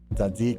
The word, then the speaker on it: tzatziki: Okay, it's tzatziki. I love how one of them was just like, hey, it's just an S. Don't worry about it. God damn it. I think it's pronounced Satsiki. Well, we heard the proper Greek pronunciation, so that works.